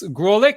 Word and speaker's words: Graulich: So today I would like to welcome Graulich. Have I pronounced it right?